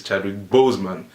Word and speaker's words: Chadwick Boseman: : Chadwick woman is not terrible Bowman is Chadwick Boseman that's how his name is actually pronounced but yeah especially his like his attire